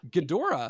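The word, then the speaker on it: Ghidorah: monster what's up Gora gadora that's a that's a hard o there gadora gadora gadora that's how you say it gadora I always said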